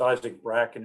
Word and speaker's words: Isaac Bracken: uh working out uh it's isaac bracken i think the way we pronounce it but uh they're